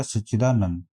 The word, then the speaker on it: सच्चिदानंद: ता में छोटी की मात्रा रहेगी, इसका सही उच्चारण हो गया सच्चिदानंद।